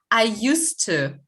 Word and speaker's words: used to: Одинаково произносится, поэтому люди забили на эту буковку D, И многие ее пишут. Yeah? Because when you pronounce, nothing changes.